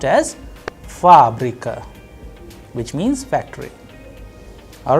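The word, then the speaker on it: фабрика: you have fabrica there the stress is on first ah that is why it is under stress the sound of first ah is higher than the rest so it is being pronounced as fabrika which means factory all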